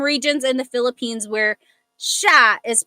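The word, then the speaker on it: siya: But the s i y combination that makes a sh sound. So, sha sha.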